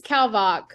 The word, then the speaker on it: Kalvach: it's Kalvach.